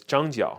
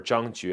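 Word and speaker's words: 张角: So the idea here is Zhang Jiao, or Zhang Jue, if you're talking about like older Chinese pronunciation of this character, this Chinese character, very likely it's Zhang Jue, is actually the leader of the Yellow Turban, right?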